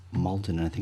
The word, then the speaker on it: Maldon: It's Maldon and I think it's spelled m a u l d o n.